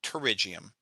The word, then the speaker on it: pterygium: this is called a pterygium starts with a p p t r uh pterygium like pterodactyl um but this is